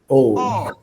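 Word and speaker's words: 어: Ada 1, maka bunyinya adalah O. Ya, tulisannya EO, tapi kita bacanya adalah O.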